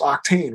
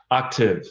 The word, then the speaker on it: Octave: It's Octane, right? Octave. It's funny. I have a way of making brands that are hard to pronounce, but Octave, kind of like the sound.